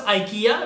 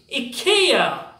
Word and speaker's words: IKEA: that's right people pronounce because most often people pronounce as IKEA which is wrong it's simply a Kia going on to next on your screen and